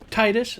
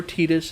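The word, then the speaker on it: Tidus: In no particular order, we have the main character, Titus or Titus. Yes, it can be pronounced both ways.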